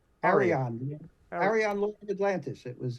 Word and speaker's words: Arion: your Sci-Fi series that I always get the name wrong it's Aran Arion Arion Lord Atlantis it was a sword and